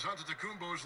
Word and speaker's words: Antetokounmpo: In the real way, you gotta say with a D, so it's Antetokounmpo. But in the Greek way, you say with the N.